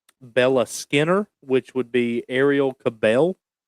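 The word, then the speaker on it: Arielle Kebbel: talking about uh, Bella Skinner, which would be Ariel Cabel.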